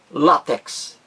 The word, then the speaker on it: látex: palavra látex não existe a pronúncia apenas uma látex a sílaba mais forte aí a primeira látex e aí deveria haver